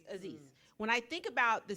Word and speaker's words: Aziz: So when I think about the situation with Anis, is that how you say his name? The guy from Parks and Rec. Oh, Aziz.